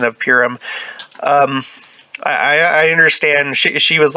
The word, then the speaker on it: Purim: She was like, well, it's pronounced Purim. Which I'm sure that's true, but I've heard it pronounced Purim as well, and I don't feel comfortable saying Purim, just because that sounds. I prefer Purim.